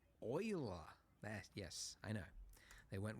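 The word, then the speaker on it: Euler: Not uler oiler.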